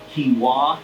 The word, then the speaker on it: quinoa: There's pea protein, brown rice, so there's a little bit of rice in there, buckwheat, millet, quinoa is how you pronounce that.